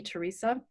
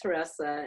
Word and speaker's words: Teressa: for for having me Theresa thank you so much Sofia and I'm sorry my name is pronounced Teresa and oh yeah oh